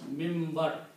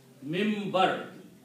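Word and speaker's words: minbar: In writing it is written minim. This is the pulpit. How do we pronounce mimber? We pronounce noon as a mean. Mimber.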